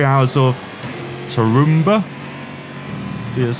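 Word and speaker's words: Tarumã: Like I said, this car did race beginning in 2017, around the 3 hours of Tarumba.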